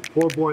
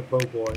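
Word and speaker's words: po' boy: the food scene too no matter how you say it as long as it's good nobody's gonna argue with you poor boy or bo boy it's got to be good so the band was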